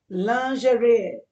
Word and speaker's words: lingerie: Lingerie, I'm sorry, I can't help that.